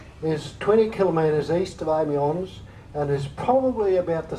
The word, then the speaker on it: Amiens: Amiens, I'm told, is the right pronunciation, for our first night on French soil.